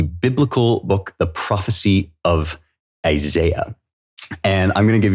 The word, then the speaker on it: Isaiah: And the way that the British pronounce Isaiah is Isaiah. And that is how I pronounce Isaiah most of the time.